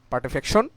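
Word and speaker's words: putrefaction: সেগুলো হচ্ছে number one পার্টিফিকেশন sorry পার্টিফ্যাকশন আসলে এগুলো প্রোনাউন্সিয়েশন হয় পার্টিফেকশন নাম্বার টু হচ্ছে এডিপোসিয়ার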